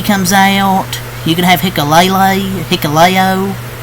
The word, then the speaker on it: Hikuleo: You can have Hikuleo. I think it's how you say his name, not Hikulele.